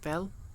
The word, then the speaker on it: well: Although, technically, I suppose in Welsh you'd pronounce it like fel.